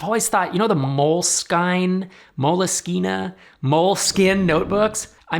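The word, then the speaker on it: Moleskine: bad name I think if they just removed the E and called it mol skin it would be so much better or if they said it is 100% pronounced mol skine because the E implies a harde you get the idea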